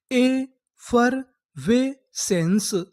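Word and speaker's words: effervescence: आपको पता है कि आखिरी में ई है, हमें ई का उच्चारण नहीं करना। तो हमारी पूरी मीनिंग क्या बनी, ए फर वे सेंस, एफरवेसेंस, एफरवेसेंस।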